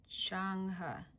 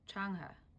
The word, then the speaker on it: Chang'e: The pronunciation is Changha, Changha, Changha, Changha, Changha.